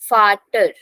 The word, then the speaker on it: Vater: If a word is starting from V, then the pronunciation will be F. So this is the word Vater. Yeah, Vater is father in German. So starting from V, pronunciation F. Vater.